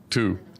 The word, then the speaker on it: Tu: I never pronounce that right. I'm sorry. Tu.